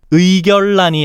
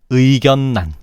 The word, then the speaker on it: 의견란: 의결란이 아니고 의견란.